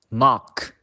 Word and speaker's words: knock: Now, the letter K is usually silent before the letter N. For example, knife, knock, no.